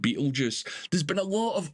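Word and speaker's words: Betelgeuse: some reason or another it just gets pronounced Beetle Juice there's been a lot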